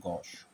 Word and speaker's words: gauche: এখন যে ওয়ার্ডটা দেখবো সেটা হচ্ছে গশ, GAUCHE। এর উচ্চারণটা হচ্ছে গশের মতো করে হবে। এটা ফ্রেঞ্চ ওয়ার্ড যার বাংলা অর্থ হচ্ছে অমার্জিত, আনরিফাইন্ড, তারপরে ইমপোলাইট, আনসিভিল, বেয়ারা বা কদাকার, ক্রুড, অকওয়ার্ড, ক্লামজি।